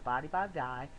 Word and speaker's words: Body by Vi: month supply of the Body by Vi. It's actually pronounced Body by V.